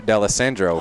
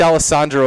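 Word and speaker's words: D'Alessandro: d'allesandro for this call good pronouncing that's a good announcer right there folks my name is not easy i i called it i said alessandro a few times like that's not right bud i gotta correct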